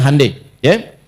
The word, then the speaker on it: Hyundai: Jadi Jepang misalnya bikin Honda dia bikin Hai ya. Y Hyundai saya tahu bahasanya dibacanya Hai ya.